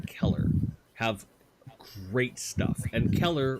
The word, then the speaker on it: Keller: have great stuff and Keller rhymes with killer almost because they are a